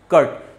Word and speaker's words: curt: हम लोग कहते हैं कर्ट, CURT, और इसका प्रोनाउंसिएशन क्या होता है, के से स्टार्ट होता है, मतलब KURT, प्रोनाउंसिएशन इसका यही है कर्ट।